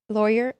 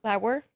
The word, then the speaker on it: Lauer: I thought it was going to be Eric Lawyer. How do you say it? Lauer.